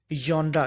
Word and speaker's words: genre: अगर हम लोग इसके सिलेबल की बात करते हैं तो इस वर्ड के हमारे पास दो सिलेबल हैं, एक जॉन और दूसरा रा। तो correct pronunciation of this word would be जॉन रा। कि इसको हम लोग कैसे प्रोनाउंस करेंगे? जॉन रा।